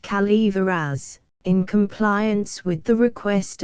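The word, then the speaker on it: Calaveras: French the notorious Jumping Frog of cavas County pronounced Calver as in compliance with the request of a friend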